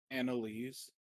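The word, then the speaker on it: Annalise: The the first part is Annie, the last part is lease is actually a very popular female name in stories for some reason.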